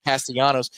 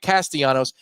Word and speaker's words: Castellanos: Is it Castellanos? It's not like Nick Castellanos. I swear, every play-by-play guy in the country says Castellanos. I speak Spanish.